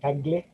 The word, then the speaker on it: Kaggle: And then you can also go to Kaggle, wherein I normally pronounce it as Kagle, because sa Bisaya, we do that. We do those things just to be able to create some differentiation.